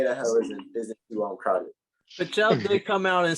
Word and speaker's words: Pichel: Pachel.